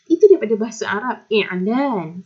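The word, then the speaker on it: إعلان: Sebab kita sebut i'lan, ya, bukan iklan. Okey, itulah bahasa Melayu kita memang banyak yang base daripada bahasa Arab. Tapi kadang-kadang kita pronounce, kita sebut tu tak macam Arab. Ya. Jadi bukan iklan tapi i'lan, ya, sebut i'lan, bukan iklan.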